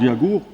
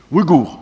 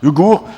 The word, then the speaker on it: Ouïghour: Vous savez, langue Yagour, c'est ça? Ouïghour. En fait, je prononce mal. Ouïghour, c'est très intéressant comme une langue, mais c'est une langue actuellement en cours de disparition, en fait.